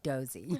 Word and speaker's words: Dosey: It's Dosey.